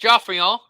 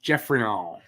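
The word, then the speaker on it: Geoffrion: It's pronounced Joffrion because he was French. No, it's pronounced Jeffrion.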